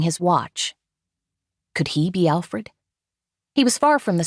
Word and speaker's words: Alfred: was his phone anyway Alfred I said relieved that I managed to put the accent on the second vowel the Albanian way I'm sorry for being